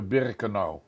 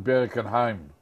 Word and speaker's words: Birkenau: En het heette Birkenau. Wat wij in Holland hoorden we voor het eerst die naam, maar toen werd het uitgesproken als Birkenheim.